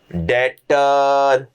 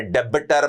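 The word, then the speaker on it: debtor: उसे कहेंगे trade receivable डेटर B silent है। डेबिटर मत बोलते रहना। नाक कटवाओगे मेरी तुम। डेबिटर नहीं बोलना। बी साइलेंट होता है।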